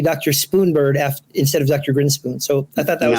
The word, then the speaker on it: Grinspoon: this week by our very special guest Peter greenspoon or grinspoon sorry uh I'm sure you have that happen